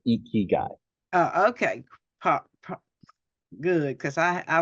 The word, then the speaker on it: IKIGAI: Go IKIGAI LLC is the name of the company, but you said it right, IKIGAI.